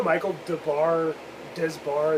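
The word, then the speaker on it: Michael Des Barres: You know Michael Desbar is how you pronounce his name, was their lead singer briefly.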